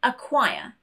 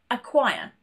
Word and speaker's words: acquire: This is particularly important when C is next to a K or a Q because they both have the same sound. For example, acquire, not acquire, acquire, or block. We only pronounce one of those K sounds.